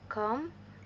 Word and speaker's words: comb: Notice: B is silent in lime, thumb, comb, and index subtle dub.